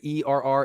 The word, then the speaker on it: err: so you all know this word right here ER is er it's pronounced ER ER on the side of inclusion